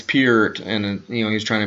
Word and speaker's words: Peart: He said Neil Peart and tried to... when I said, oh, it's Peart.